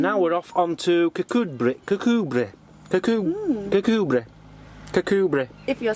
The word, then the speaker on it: Kirkcudbright: And now we're off on to Kirkcudbright.